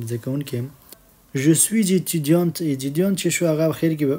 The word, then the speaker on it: étudiante: Je suis étudiante.